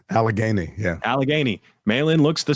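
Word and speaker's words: Allegheny: Alagany.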